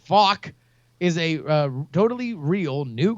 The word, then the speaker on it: FAK: Fake coin, or FAK, pronounced FOC, is a totally real